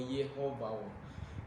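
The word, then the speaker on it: יְהוָה: Pag ito'y binibigkas ng Hebrew, Yehovah, Nisi, Yehovah, Nisi.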